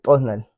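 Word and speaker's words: t'osnal: Es prácticamente como hacer contraer la lengua con los dientes para que tenga ese sonido que, por ejemplo, es asimilemos un sonido de un chasqueo de los dedos.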